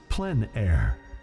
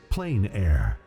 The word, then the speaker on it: plein air: open air or outdoors the French pronounced it plan air others say plein air no matter how you